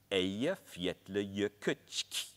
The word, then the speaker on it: Eyjafjallajökull: covered in ice with a very hard to pronounce name. Any Icelanders in the audience? I think it sounds like Eyjafjallajökull.